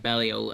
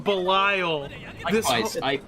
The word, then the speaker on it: Belial: figure arts ultraman and belial atrocious atrocious belial i like uh is that how i say it i've been calling him belile i say bellio because that's how they say it in the show i mean belial is